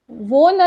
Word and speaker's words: wohne: Okay, उसके बाद इश वो न इन बेर्लिन, वो न ये जो वर्ब है ये यूज किया जाता है, WOHNE, वो न।